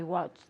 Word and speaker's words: watched: Yesterday, I watched. yeah, casi no te salió la T.